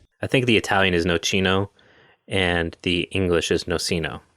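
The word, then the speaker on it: nocino: they do call it nochino look at that good job americans wait that was an italian website oh wow no it is americans pronounce it noceno but it should be nochino goddamn americans i'm gonna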